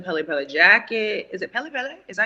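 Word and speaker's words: Pelle Pelle: Is it Pele Pele?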